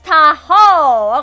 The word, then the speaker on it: Tahoe: And it's pronounced as Tahoe, not Tahoe. You pronounced that funny. You placed the emphasis on the first, so it's Tahoe.